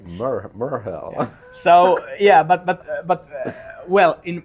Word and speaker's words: Merheal: We haven't discussed how do you pronounce Merheal in English. I think we should just say Merheal. Yeah. Because that is the real way to pronounce it.